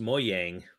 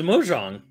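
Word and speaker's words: Mojang: kid to enjoy together like pronounced moyang like plays like a moyang Studios I was like oh that was mojong I I also thought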